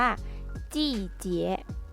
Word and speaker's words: 季节: ภาษา จีน นะ คะ ออก เสียง ว่า จี้ เจี๊ยะ เจี๊ยะ เจี๊ยะ เจี๊ยะ ฤดูกาล